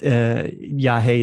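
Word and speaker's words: yagé: And yes, Yahe is spelled Yage, and they do ceremonies in different parts of the country, and then they also have a retreat in Colombia.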